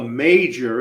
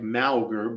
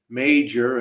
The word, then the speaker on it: Mauger: The Disappearance of Olga major it looks like malar but it's pronounced major and I got that